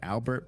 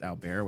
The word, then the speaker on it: Albert: He's French, so his name looks like Albert, but it's actually pronounced Albert, which I learned recently.